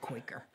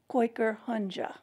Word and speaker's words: Kooikerhondje: I said Quaker. Well, it's supposed to be koi like the fish, Kooikerhondje.